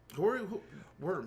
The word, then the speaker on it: Wyrm: Worm. I'm looking for Worm. Just search it again. I did. I searched Worm, but it's spelled differently. It's like I thought it was WYRM. Oh yes, YRM.